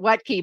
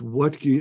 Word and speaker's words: Wuttke: the name it's not you taught me how to pronounce it what key but that's not how you spell it so audience here you